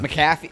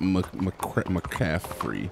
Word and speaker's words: McAfee: McAfee? I think it's McAfee. McCafe? That might be wrong. I don't know. Yeah, I can't remember it either, but I know it's not McCaffrey.